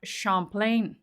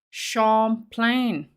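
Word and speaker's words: Champlain: much silly kitty says FY the lake is pronounced shamp plain shamp plain maybe it's like shampan in France right thank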